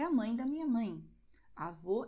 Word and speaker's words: avô: Avô é o pai da minha mãe. Então, avó é um som aberto, avô é um som fechado.